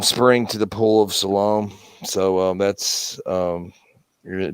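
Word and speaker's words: Siloam: also i don't know i think it pronounced it s-i-l-o-a-m salome tunnel that's the hebrew and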